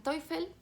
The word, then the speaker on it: Teufel: Y dentro de los rompedores destaca también el personaje de Victorine Dan Teufel. Bueno, yo lo pronuncio en alemán, pero se escribe Teufel, que es una ex